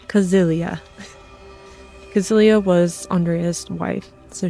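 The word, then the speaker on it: Cäzilia: But it's Kazilia.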